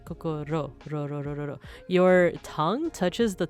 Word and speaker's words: kokoro: But the way that you pronounce it is you wouldn't say kokoro like the way that Americans say it, like, you know, or